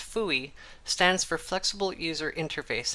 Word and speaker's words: FUI: linen lab's fui work fui commonly pronounced fuy stands for flexible user